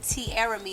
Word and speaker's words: Tiaramy: at the number one, Tiaramy. It's spelled like Tiaramy. So it's spelled like Tiaramy, but the Y is silent.